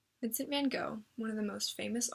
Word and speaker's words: van Gogh: out by saying that I'm going to be pronouncing van Gogh's name wrong technically it's supposed to be something like van Gogh but I know that I'm butchering it so I'm gonna say it the American Way Vincent van Gogh one